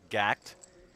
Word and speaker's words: GACKT: entire Japanese world will recognize him instantly as gact I believe that's spelled g-a-c-k-t in case you're not familiar with